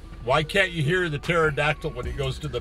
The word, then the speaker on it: pterodactyl: can't you hear the pterodactyl when he goes to the bathroom cuz they're extinct NOP cuz the pee is silent I didn't even know there was a pee in that so that's some that's